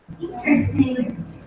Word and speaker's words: interesting: Para lembrar da pronúncia de interesting. Você lembra do intestino, viu?